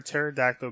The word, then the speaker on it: pterodactyl: can't you hear a pterodactyl go to the bathroom why not why not because the P is silent wait is that a